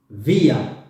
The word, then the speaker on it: wir: It's written W, wir, but it is pronounced as wie. Wir, wir, wir sind.